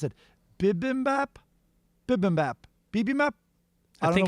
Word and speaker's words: bibimbap: I did the beef and veggie, I don't know how you'd pronounce it, bibimbap?